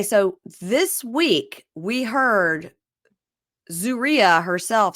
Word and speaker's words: Zeruiah: Zeruiah. We're on episode 8, and we just figured out how to say her name. So Zeruiah, I've written it down, ZOO-REE-UH, Zeruiah.